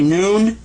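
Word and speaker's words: ن: the points like that can you say noon noon makes the sound of not all right now the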